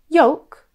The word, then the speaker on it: yolk: The L is actually silent and the word should rhyme with the word woke. Rather than yolk, it should be yolk.